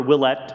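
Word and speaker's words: Ouellette: the best wife ever jennifer willett is how you pronounce her name you can buy her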